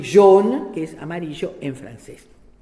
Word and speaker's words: jaune: En cambio, dice después, cuando digo jaune, ¿verdad? Lo asocio a la palabra jeune, que es joven. Esa AU de John se escribe J-A-U-N-E, es un fonema posterior, cerrado y, ¿qué otra cosa?